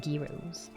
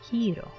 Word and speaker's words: gyros: Wait, is it really hero or gyro? Gyro the thing pronounced hero. Oh, okay, I didn't know that. I was like, gyros. I always said gyros whenever I saw it.